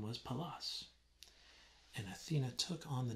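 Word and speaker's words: Pallas: there's a reference to palace it's like dallas with a p for peter pronunciated palace it's greek but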